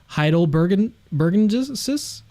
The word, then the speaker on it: heidelbergensis: I'm curious if you have any pushback on Homo heidelbergensis?